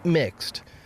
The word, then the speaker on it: Mx: use the pronoun mister instead using mx pronounced mixed a title which does